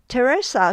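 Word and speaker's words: Theresa: For example, Teresa starts with th, but it's pronounced as a t sound.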